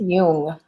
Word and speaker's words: Jung: I think it's Jung.